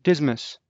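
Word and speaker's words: DSMS: Aircraft stores are managed through the Digital Stores Management System, pronounced DISMS.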